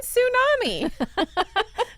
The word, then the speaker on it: tsunami: And then the guy goes, yeah, and what about that T in tsunami? Just sneaking right in.